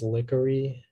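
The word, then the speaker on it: licuri: The only pronunciation is licorice.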